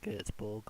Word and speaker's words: Göteborg: Because Goetz has got that little 2 dots in front of his O in his name. And they say Goetze. So I think that's Göteborg or something like that.